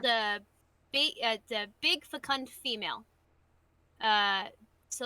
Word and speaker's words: fecund: When you see, so it's fecund. So I'll spell it in chat. Fecund. It's like fecundity.